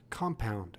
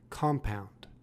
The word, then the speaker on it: compound: adjective as a noun it is pronounced compound with the emphasis on the first syllable compound compound compound compound mean to